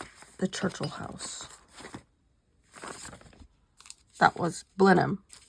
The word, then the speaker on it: Blenheim: Churchill house that was blam which I kept calling Blenheim because that's how it's spelled but they don't pronounce it that way Blen I I know